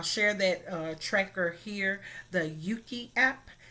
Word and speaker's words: Euki: I definitely encourage, I'll share that tracker here, the Yuki app. It's spelled EUKI.